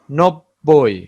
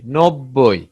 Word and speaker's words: নব্বই: নব্বই, নব্বই। এখানে দুইটা বরের উচ্চারণ আছে।